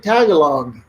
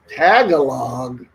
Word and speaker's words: Tagalog: i heard the word oh you speak tagalog tagalog you mean tagalog so you know i